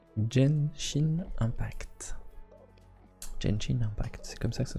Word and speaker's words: Genshin Impact: Est-ce que vous avez joué dans le chat à alors je sais pas trop comment faut le prononcer, mais à Genshin Impact. Genshin Impact, c'est comme ça que ça se prononce.